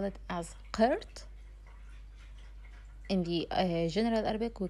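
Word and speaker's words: قرط: Earring in the official Arabic, we call it as qirt. Qirt. But in the general Arabic, we call it as hala. Hala. So in the official, we call it as qirt.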